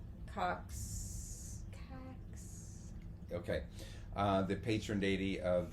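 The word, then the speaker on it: Yum Kaax: I'm gonna It's say YUM space KAAX. So you pronounce that at your leisure. I'm gonna say Cox.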